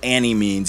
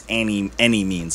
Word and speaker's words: Annimeanz: It's Cudahy Dopeboy 2 by Annimeanz. Not Annimeanz, even though it's spelled with that big capital A. It's Annimeanz, like any means necessary.